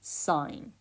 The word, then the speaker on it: sine: button on your calculator you may have pronounced it as sin but it is actually sine now there are two